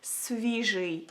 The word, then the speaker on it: свіжий: So if you wanna say fresh in Ukrainian, you would say it like свіжий, свіжий.